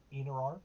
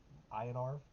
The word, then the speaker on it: Iniarv: how that's pronounced either it's in n i a RV inar is what I would say in arv which brings us back